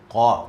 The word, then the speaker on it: قاف: So the previous one is heavy, but this one is light. Ka. You see my mouse? I'm showing you a little smile. Mean this letter is light. Ka. But the other one, the previous one is qa. There's no smile. Qa.